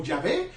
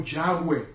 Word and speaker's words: Yahweh: Y-H-W-H, que nosotros lo pronunciamos como Yahvé o Yahweh.